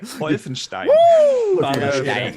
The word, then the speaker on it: Wolfenstein: Before we give it to Addict Boxer, give me that correct German pronunciation. I love when he says what's that? Wolfenstein.